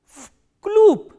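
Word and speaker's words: вклуб: Because this v is voiced, so it will be pronounced as its voiceless counterpart, which is f, and this b is again a voiced consonant, so it will be pronounced as p. Vkloop.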